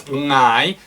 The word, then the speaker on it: ngai: It's ngai, N-G, it's spelled ngai.